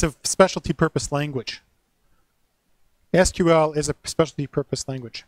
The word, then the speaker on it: SQL: the exact same way SQL is what they call an initialism not an acronym not an acronym it's not pronounceable so it's SQL just say now the